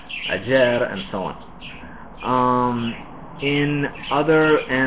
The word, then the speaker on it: ayer: And then the sound between vowels is basically a Y sound in English.